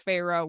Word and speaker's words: Feyre: My name is Feyre. And Amarantha recognizes Feyre's name. And I really like the direct quote here, actually. She says, Feyre, testing her name, the taste of the 2 syllables on her tongue.